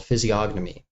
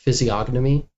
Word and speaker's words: physiognomy: A lot of people dropped the G. It's It's fine. It's Greek.